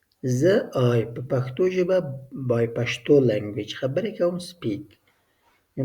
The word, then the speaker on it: پښتو: If you like here, some people pronouncing Pashto, most people pronouncing Pashto, and some people pronouncing Pashto, but the correct pronunciation is Pashto, Hin, Pashto.